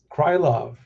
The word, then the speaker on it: Krylov: And look that fight against um um Krylov Let me pronounce this last thing correctly. Um Krylov.